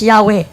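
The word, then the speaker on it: Yahweh: the christian church testify that the name was pronounced yahwe l ayapw nagtubag ko pag muingon siya as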